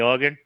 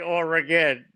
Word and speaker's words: Oregon: We don't pronounce or we don't say or again. It's organ.